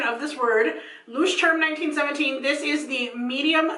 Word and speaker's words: Leuchtturm: I did look up the pronunciation of this word. Leuchtturm 1917.